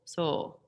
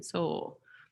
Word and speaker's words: sol: And for so, it's spelled soul, like solfege, but we just sing soul, soul. I don't do the L, because that tends to mess with our pitch. So I just sing soul, okay?